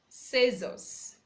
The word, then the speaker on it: scissors: silence be see let's see a silence when it comes before E I Y or after letter s for example we have the red scissors scissors science science sense sense the C is silent letter D a silence before